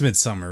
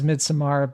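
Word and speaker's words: Midsommar: pronounce this title uh I believe it's Midsummer right so you don't pronounce the a well I think AR aser says midamar but it's supposed to be Midsummer I rhyme it as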